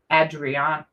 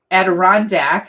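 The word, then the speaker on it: Adirondack: Oh, and matching envelope with the adrian Aderondac I almost said it wrong. Aderondac chairs, right?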